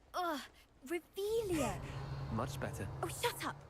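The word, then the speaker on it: Revelio: You're Revelius. saying it wrong. Ugh, Revelia.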